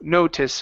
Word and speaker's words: notice: Okay, so the I here at the very end, instead of using a long E saying notice, it's no, notice or notice with a short I sound, notice.